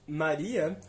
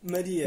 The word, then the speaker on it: Maria: Ou seja, se no português brasileiro dizemos Maria, no português europeu dizemos Maria. Exatamente, Maria, não é Maria. Pois é. Com A fechado, já que não está na sílaba tônica.